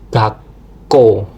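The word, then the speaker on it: がっこう: Contoh dari kata kosakatanya sendiri itu ada gako. Nah, kan gako doel K ya, Gako.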